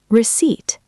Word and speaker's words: receipt: Seventh, receipt. R E C E I P T. The P is silent.